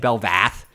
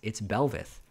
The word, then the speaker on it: Belveth: And it was also the appearance of the Belveth for Belveth for Kanavi. Funny story. I was actually saying Belvath a lot during one of the casts, and I got some feedback like, "No, it's Belveth." But yeah, I need to